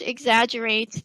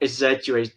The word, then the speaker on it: exaggerate: So we have 4 syllables. Yeah. Exaggerate. Right? Exaggerate. Yes. So we'll start with X. So here in the word, it's like we literally see EX, but we will say X.